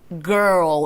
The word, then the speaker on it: girl: I가 들어가는데 이걸 길 이렇게 하시는 게 아니라 girl 이런 느낌으로 뭔가 사운드가 난다라는 거.